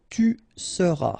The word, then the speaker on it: seras: Alright, then tu seras, final S not pronounced, tu seras, il sera,